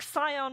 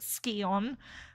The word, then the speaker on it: Scion: It's like Scion and Skion in Tomb Raider, right? Like, you're not supposed to say it Skion, but they that's how they say it in more like Warrior, am I right?